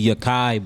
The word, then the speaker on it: Yakai: Actually, it's really Yakai, but everybody nicknamed me Yah'ki.